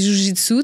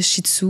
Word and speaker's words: jiu-jitsu: pas c'est quoi premièrement ça se dit jjitsu tu l'as bien prononcé des fois les gens appellent ça shitsu fait que c'est comme c'est comme pas ça oui comme le chien non c'est pas ça dans le fond c'est